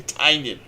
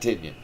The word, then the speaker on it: Tynion: His name is James Tynion. It is Tynion, not Tynyon.